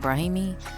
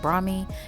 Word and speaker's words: brahmi: shaft making it extremely moisturized next we have brahmi at first i said brahimi but that is incorrect it's pronounced bromi and it helps create a natural protective layer